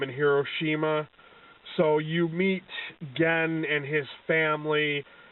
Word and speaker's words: Gen: And I guess it's pronounced Gen, like Ken.